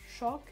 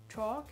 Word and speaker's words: chalk: Pour ce qui est de la prononciation britannique, donc on va avoir plutôt une prononciation en mode chalk, chalk. C'est plus léger, c'est plus vraiment le O, chalk. Et à la prononciation américaine, c'est un peu comme s'il y avait un A après le O, mais c'est léger, hein. Chalk.